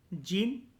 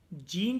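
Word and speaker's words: Jean: भी बोल सकते हो, जीन जो वर्ड होता है उसको यूरोपियन कंट्रीज के अंदर जॉन वर्ड या जॉन वर्ड्स जो होता है, एक हल्का सा प्रोनाउंसिएशन होता है, जॉन कह लो या जॉन कह लो, हम इसको वैसे प्रोनाउंस करते हैं।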